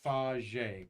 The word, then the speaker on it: Faget: little bit about Max f a g t pronounced FJ correct right right well take it away b